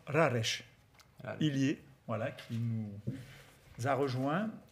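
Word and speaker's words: Rareș Ilie: On reçoit d'abord, alors on prononce Raresh, Ilier, voilà, qui nous a rejoint.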